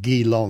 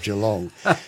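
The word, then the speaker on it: Geelong: so you quite often you get a mispronunciation like d long instead of G long but that's the story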